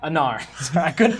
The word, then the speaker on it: Anar: Remind me how you pronounce it. Anar? Anar. I couldn't get Aaron out of my head. I was like, that's not right.